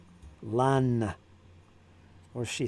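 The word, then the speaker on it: Lannes: Lan was that was a learning one. That's something I didn't know. I guess S's at the end anyway are silent, so that's important.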